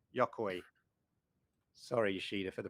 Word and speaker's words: Yokoi: his co-worker at nintendo the chief engineer gunpei yokai yokoi sorry yashida for the pronunciation from newcastle it's this what you can